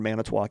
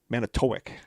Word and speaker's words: Manitowoc: at the Capital Civic Center in Manitowoc in October.